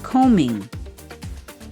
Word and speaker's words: combing: and BARK The letter B in the middle of the word COMBING. The B in combing is silent, meaning you don't pronounce the letter B and then you have